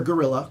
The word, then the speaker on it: guerrilla: I go gorilla like gorillas in the midst.